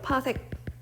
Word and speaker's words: 파섹: 이거를 파섹이라고 읽어요. 파섹.